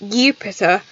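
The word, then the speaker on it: Iupiter: it would it would be pronounced you pisser with an eye on the front instead of a J so if you're talking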